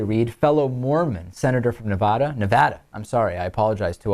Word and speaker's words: Nevada: fellow Mormon senator from Nevada, I'm sorry, I apologize to all, I know that I say that wrong sometimes. Nevada is the correct way to say it.